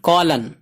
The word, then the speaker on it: column: COLUMN کولن، کولن ایم خاموش ہے، silent ہے.